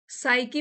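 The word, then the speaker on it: psyche: साइकी में यहाँ पे पी साइलेंट है, साइकी मीन्स दिमाग, नाउन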